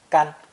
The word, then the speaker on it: 干: But first, let's review the spear plus shield combination that appeared in lesson 22, pronounced first tone. 干.